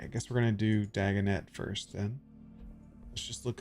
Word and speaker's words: Dagonet: I've heard tall tales about Sir Dagonet, the knight devoted to the Dagonet. So that's how you pronounce He is it.